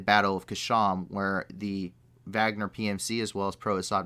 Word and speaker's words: Wagner: used by the wagner group it looks like wagner but it's pronounced the wagner group this is a private military corporation or